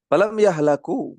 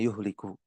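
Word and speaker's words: يَهْلَكُوا: turun sudah jangan tambah-tambahkanam yahlaku maka mereka tidak binasa ya cara bacanya yahlaku bukan yuhliku ya kalau yuhliku mereka tidak membinasakan Namun bukan itu yang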